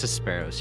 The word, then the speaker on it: Hesperos: It's Hesperos, yes. Are we pronouncing this Phoenix or Phoenix, by the way?